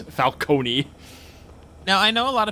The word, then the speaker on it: Falcone: from that game pronounces Falonee." Yeah. No, in uh the the the Lego the Yeah, the Lego Batman game pronounces it the way that Batman Begins does it, which is falcone.